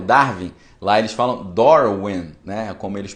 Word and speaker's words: Darwin: O Dar, eles falam Dor, e o Vin, que a gente fala Darwin, eles falam Win, porque em inglês o W tem som de U, né?